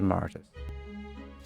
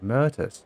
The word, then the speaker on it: Mirtus: Let's get back to Brawlhaven and to Maritus. Or Mirtus, whatever her name is. Murtis. Oh, Mirtus. Okay, that's how you pronounce it.